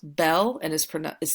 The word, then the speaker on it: bel: special case the bow form special case is pronounced Belle and is pron is spelled Bel Nuvo is